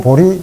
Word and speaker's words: 보리: 제가 말씀을 드렸습니다만, 상구, 보리, 하와 중생 그러잖아요. 위로는 구합니다. 뭘 구하냐면 보리, 진리를 구하는 거죠. 제라고 써놓고 이럴 때는 리라고 읽죠.